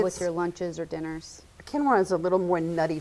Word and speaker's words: quinoa: of quinoa before and it's spelled kind of funny they say quinoa or they have lots of different funny names for it but quinoa is a really great